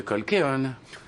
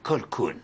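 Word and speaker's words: Colquhoun: Monsieur Colkeon, ça se prononce Colkoun.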